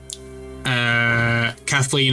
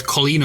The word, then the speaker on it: Colleen: Because Shadow was the first character confirmed, and then Kathleen O'Shaughnessy, I think that's how you pronounce it. It's Colleen O'Shaughnessy. It's Colleen.